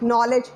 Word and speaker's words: knowledge: When we read, there are some silent words like knowledge, K is silent, know, K is silent.